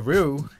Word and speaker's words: Ryu: While other characters might have more crossovers, few can compare to Ryu in terms of quality and variety. And also, I found out his name is only pronounced with one syllable before anyone starts going crazy in the comment section.